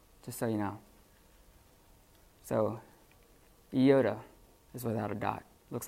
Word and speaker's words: iota: The next one is an iota or iota. It's better to pronounce it iota.